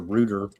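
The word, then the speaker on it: Rutte: Here's NATO's head rooter. Uh talking about they're killing how many what's his name? root, but I always hear him pronounce a rooder, but anyway, root.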